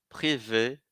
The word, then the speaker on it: privé: Significa que esse "e" aí, com acento, que eu estou falando "e" no final da palavra, eu vou ler ele, eu vou pronunciar rénover, meubler, privé. Inclusive é ele que é a sílaba tônica da palavra.